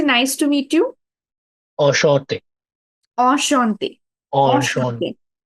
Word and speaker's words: enchanté: Enchanté. Enchanté. Enchanté. Enchanté. Slight Enchanté. nasal sound. Shaw. It's not shaw exactly. It's shaw. Enchanté.